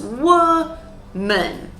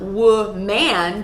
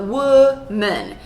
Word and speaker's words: woman: A lot of English learners say woman because you're trying to stress both syllables, but that doesn't happen with native English speakers. We stress one syllable, so it becomes woman. So not woman, but woman. So we have the schwa, the sound.